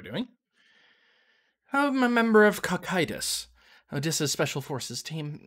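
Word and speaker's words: Cocytus: let me google this apparently it's kokitis anyway that's um a river in hades it's a tributary of the uh um the ochron um it's greek which is why i'm terrible at pronouncing it anyway as we were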